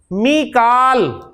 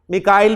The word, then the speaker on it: मीकाल: मीकाल, कुरान में मीकाल का है, मिकाइल भी प्रोनाउंसिएशन है इसकी, तो मीकालू, मीकाला, मीकाला।